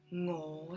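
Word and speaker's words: 我: And I eat is ngo sick, ngo sick. Ngo, rising tone, sick, mid-low tone.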